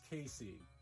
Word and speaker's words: KC: Penguin mascot, it's Casey, which is spelled KC, which stands for Kid Cuisine.